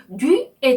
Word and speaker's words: du: 네, u 모음은요, 입술 모양을 우 한 상태에서 이 소리를 낼 때 나오는 발음입니다. 한 번에 발음하셔야 돼요. u, u. 네, 그래서 앞에 자음 대랑 같이 연결해서 발음을 하시면 du 이렇게 되죠.